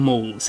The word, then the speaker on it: mall: m a double l ultimately that is actually an incorrect pronunciation of shopping mall that should be a mal like pal-mal in london if you play monopoly you should recognize that one from the board that's why i call